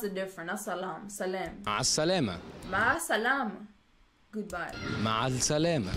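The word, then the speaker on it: مع السلامة: Ma salama. Ma salam. Goodbye. Ma salama. Ma salam. It spells salama, but they say salam.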